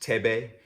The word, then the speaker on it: Thebe: Thebe Magugu, first name pronounced Thebe, is a designer who is obsessed with craft and storytelling.